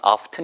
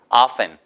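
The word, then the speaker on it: often: 기발한 하셔도 되겠습니다 아시겠죠 원래 출발점은 아 당연히 물론 업튼 이지만 티가 묵음 으로 변환 거예요 하세요 없앤 앞엔 종종 때때로 란 뜻이에요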